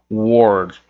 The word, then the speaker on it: world: World é a palavra mundo. Essa palavra que todo mundo tem dificuldade para pronunciar.